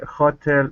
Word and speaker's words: hotel: ground orange that the hotel left in a basket at the front desk okay very good all right now this word here is pronounced Hotel the stresses at the end hotel hotel okay so